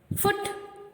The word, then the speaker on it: foot: Book, foot, wood, hook, rook, good, cook, look, nook, wool, stood, shook, broom, crook, brook.